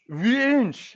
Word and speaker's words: Wünsch: I'm asking you, with the umlaut, how would you pronounce it in German? There you go. Louder. Wünsch.